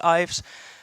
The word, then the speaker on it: Ives: it is quite hard to pronounce even in the Netherlands so I'm used to all different pronunciations you can call me Yves Ives for some reason my